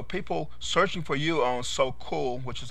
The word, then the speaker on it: Sokule: interest, and so people searching for you on Sokule, which is how it's pronounced, they know your interest, and therefore, when